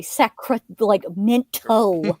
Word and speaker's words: Sacramento: Like you say sac like mento. It's like get rid of that tea.